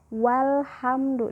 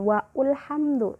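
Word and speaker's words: وَالْحَمْدُ: Hai kalimat maka Halo Alif tidak dibaca Hai porno porno contohnya Hai walhamdu disini walhamdu dibaca walhamdu jadi langsung wa ketemu apa Alif Brosot kemudian lam bersyukur walhamdu dibacanya Bukan waul hamdu tapi walhamdu karena Alif berada di tengah kalimat yang berbeda dengan kuatnya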